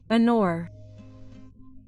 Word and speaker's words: honor: Honor. This noun begins with the consonant H, but we know that the H is silent, so it is not pronounced.